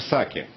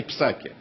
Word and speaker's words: Псаки: эсмской представитель госдепа Дженнифер Саки Господа кстати обратите внимание как правильно произносится её фамилия она не Псаки это фамилия звучит Саки Да так вот онаска